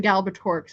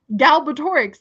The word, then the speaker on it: Galbatorix: I think part of the reason Galbatorix is so funny to me is because it's said, if I'm saying it properly, exactly how it's spelled. There is no silent letters.